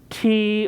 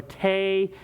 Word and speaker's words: tea: Recipe for tea, pronounced tea or tay. The origin is Fukienese or a Scottish dialect.